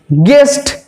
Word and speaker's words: guest: গেস্ট, গেস্ট দেখো GEST গেস্ট একই উচ্চারিত হবে, আবার GUEST গেস্ট একই উচ্চারিত হচ্ছে, কিন্তু বানান হবে GUEST, অর্থাৎ ইন